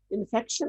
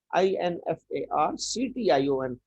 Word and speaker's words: infarction: CT, इन्फेक्ट नहीं, इन्फेक्शन नहीं, यहाँ लफ्ज क्लियर कर लें। इन्फॉक्शन, आर साइलेंट होता है, INFARCTION, इन्फॉक्शन, इसको कहते हैं इन्फॉक्शन।